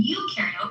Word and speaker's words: eukaryote: rhymes with no, and eu in eukaryote rhymes with do.